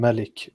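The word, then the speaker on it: ملك: bottom what is different Malik means like the owner and Malik means uh King it it's just an an a lengthened a that's what in the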